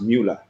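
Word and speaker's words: Möller: It's called umlauts and because it's German, you know, there it's normal. Here we don't do that. But yeah, it's it's pronounced Muller. Got you. Muller.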